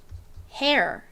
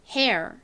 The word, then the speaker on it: hair: 여기서는 어 소리로 쓰였어요 보통 air이 함께 쓰이면 ar과 같이 발음이 나는 경우가 대부분입니다 자 그래서 연결해 보면 hair hair 이렇게 발음이 됩니다 한국식으로는 보통이 리을 받침을